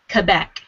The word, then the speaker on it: Quebec: interesting discoveries most of his ancestors are from Quebec that's the correct way to pronounce it quebec canada indeed the name Trepanier